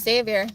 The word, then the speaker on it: Xavier: Exavior. It's Xavier.